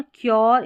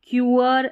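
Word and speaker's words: cure: फिर से देख ले मेन्योर, क्योर, इसको मेन्यूअर, क्यूअर ऐसे पढ़ेंगे तो सही उच्चारण नहीं होगा।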